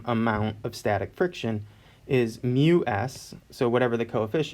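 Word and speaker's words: μ: of static and kinetic friction so this is pronounced mu sub s mu sub k so if you look in table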